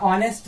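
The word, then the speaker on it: honest: है एच का, या ऑनेस्ट यहाँ पे देखिए इसका साउंड जो है क्या निकल के आ रहा, ये वोवेल साउंड है, यानी यहाँ पे एच जो है आपका क्या है साइलेंट है, इसलिए यहाँ पे जो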